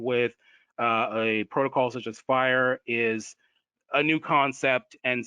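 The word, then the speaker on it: FHIR: information systems industry called it's it's pronounced fire and you know so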